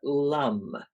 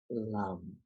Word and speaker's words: lum: going to make is a humming sound it is spelled l u m or lum and as you think about what you want to let go of in your root chakra it's going to sound like this lum thank you can feel